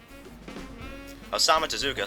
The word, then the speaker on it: Osamu Tezuka: Osamu Tezuka, see? That's how you pronounce that name, Ryan!